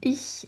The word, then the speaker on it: ich: Donc attention à la prononciation ich hein. C'est comme quand vous dites oui en oui en français on a ce son qui correspond au i.